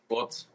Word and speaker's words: Furz: Furz. What is it called? Furz. Forts. Forts. Yeah. Forts. Okay, so it's like a fart.